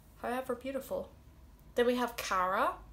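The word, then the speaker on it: Caragh: beautiful then we have cara which can be spelled c a or a or c a or a g h the gh is silent and that just means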